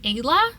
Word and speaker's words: Ela: And the pronunciation of Ela is actually Ayla, so that's good for me to know.